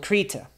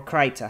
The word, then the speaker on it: Krita: by chance um called krita or kraita however you want to pronounce it and why am I